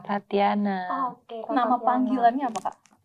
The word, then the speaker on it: Tatjhana: agak bingung mau nyebutkan sebenarnya bacanya Kak Jana atau Kak Tatiana Tatiana.